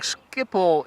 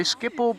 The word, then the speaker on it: Schiphol: says I've been pronouncing skippo incorrectly well in English you say skipple but in Dutch you say people and with a a sound that you don't have in another language I think other than